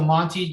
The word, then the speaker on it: Monte: Our code is called Monty. It's spelled MONTE.